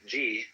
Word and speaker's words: Ji: The word Ji, which is Japanese way of pronouncing the Chinese Chi, is the world of things and events.